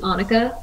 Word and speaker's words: Anika: But yeah, it's Anika, like Monica.